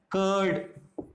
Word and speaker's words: curd: इस प्रकार UR से हम करते हैं हर्ट, कर्ड, कर्ड, CURD, तो इसमें भी आर हमारा साइलेंट है, तो इसको हम क्या बोलते हैं, कर्ड।